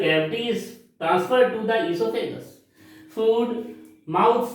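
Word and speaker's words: oesophagus: O-E-S-O-P-H-A-G-U-S, esophagus. Here O is silent. O esophagus नहीं बोलेंगे, esophagus.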